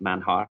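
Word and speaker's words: Manjar: much there's a restaurant in central Merida called manhar Blanco which is spelled m a n j a r so it's like mja but it's pronounced manhar we'll get you a link link for that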